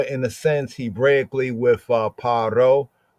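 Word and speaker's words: פרעה: In the Hebrew context, as we have in the scripts, is paro, or sometimes pointed as pharo, great house, right?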